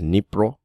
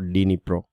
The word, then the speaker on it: Dnipro: stand with D, but you don't use the D, or you don't pronounce the D. So it is Dnipro. It is not Dnipro, right?